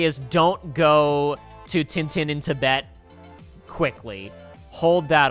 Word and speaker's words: Tintin: Tintin? That's how they say it in the French dub of the cartoon.